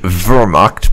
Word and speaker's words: Wehrmacht: I think it's supposed to be Wehrmacht because someone told me the W's in Germany are pronounced like a V, but I am terrible